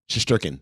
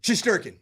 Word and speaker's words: Shesterkin: me a give me a little uh Russian pronunciation eigor shesterkin shesterkin yeah it's not that hard no okay sometimes